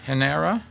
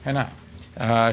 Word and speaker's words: Henao: And Henara. How do you pronounce it? Henara? Henao.